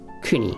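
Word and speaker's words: 国: used by itself again it is pronounced kuni which just literally means country but if it's attached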